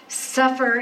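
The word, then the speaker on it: ספר: they're plural okay so very close to safer and and remember again the vowels are not in hebrew it's what we put in english but i would spell it with an o just so that you hear a bit of difference so for is the scribe suffer is the book the scribe wrote when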